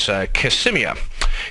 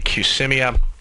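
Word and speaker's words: Qsymia: get their diet drug I believe the pronunciation is cmia Qs y m i a cmia the uh the pill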